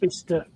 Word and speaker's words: Bicester: It's pronounced Bicester.